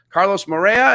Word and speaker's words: Carlos Moreira: Carlos Moreira. Is that how we pronounce it?